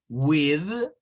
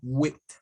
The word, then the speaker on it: with: Bien, esta tiene dos pronunciaciones, miren. Puede ser con la sonido vibrante de la TH o con el sonido sin vibración. ¿Ya? Se puede pronunciar de dos maneras. Entonces ustedes van a encontrar a personas que la pronuncian como with, como sonando una D al final, y otros como with.